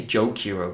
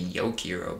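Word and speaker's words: Jokaero: I say Jokiro, but if it's like some European pronunciation, it would be Yokiro, but I don't think it's that.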